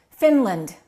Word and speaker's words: Finland: said Finland you're correct the a is reduced finland don't say seen land okay one more how